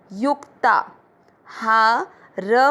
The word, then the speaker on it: युक्ताहार: पहला चरण यू के बाद में है आधा क और त है पूरा। त पे आ की मात्रा ता, युक्ता। हा र में मिक्स करेंगे, युक्ताहार।